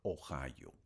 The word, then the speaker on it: Ohio: Unidos que se llama Ohio. Así se escribe, bueno, se pronuncia Ohio o O i O. Ohio o en en español sería oío o io sería pues no.